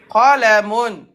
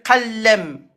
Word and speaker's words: قلم: من Donc, ça fait قلم qalamun. قلم Et à l'arrêt, قلم n'appuie pas sur l'em. Tu fais qalem.